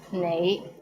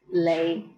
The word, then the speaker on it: 你: The right way to pronounce it is nei, but in Hong Kong, many people pronounce it as lei.